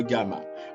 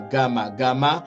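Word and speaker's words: γ: On dit gamma, se prononce N devant. Gamma, en minuscule, vous voyez, devant kappa, majuscule et minuscule, devant ki, majuscule et minuscule, et devant xi.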